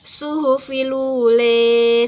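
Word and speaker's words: صحف الأولى: Kemudian pada ayat yang ke-18 itu ada imalah pada lafaz suhufil ula. Maka karena ada imalah dan juga ada naqel di dalamnya menjadi suhufilule.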